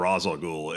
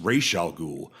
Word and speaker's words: Ra's al Ghul: will do it Terry Terry McGinnis calls him Ra's al Ghul it to Talia when Talia coos she looks